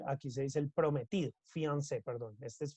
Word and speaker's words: fiancé: Este es fiancé, es prometido, fiancé, es the same, ¿no? The pronunciation is the same, prometida, ¿listo? Esa palabra deriva del francés, por eso tiene como un acento ahí en la E.